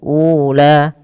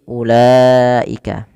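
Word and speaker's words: أُولَٰئِكَ: Nah, wau yang biasa di ada wau bila dia berharakat di atasnya seperti ini, ini wnya dianggap tidak dibaca ya langsung kepada huruf la. Jadi bukan ula tapi ulaika. Maka di sini diwarnai dengan warna abu-abu.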